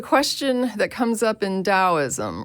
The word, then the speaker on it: Taoism: Yeah, it's pronounced Taoism, but it does, yeah.